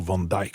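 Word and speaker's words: Van Dyck: d'autres de ses élèves comme Van Dick ou van djk je crois que maintenant on prononce comme il faut prononcer à la à la hollandaise qui et que il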